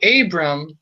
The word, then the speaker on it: Abram: But with the r there, the r, instead it's pronounced first syllable a, second syllable bre.